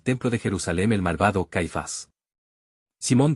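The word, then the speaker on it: Cephas: el Cristo que Paz cuya pronunciación en arameo es caifas Jesús por lo tanto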